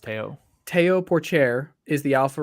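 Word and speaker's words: Théo: Is it Teo Porcher? I think it's pronounced Teo.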